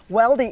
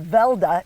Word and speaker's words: Weldy: grandfather came from norway weldy is pronounced velda in norway but here in america they pronounce the w but they came from